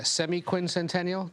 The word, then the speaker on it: semiquincentennial: said it there uh semiquincentennial that's how you pronounce it I I have spent